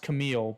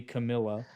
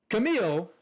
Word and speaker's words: Camille: fans off anyway I I think it's pronounced Camille but it might be Camilla no it's Camille a Camille okay I